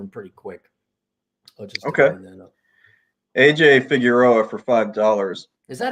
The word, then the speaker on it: Figueroa: it figueroa that's the so there's a street in l.a that's figaro that's how they pronounce it there's probably a better way to pronounce it okay um chad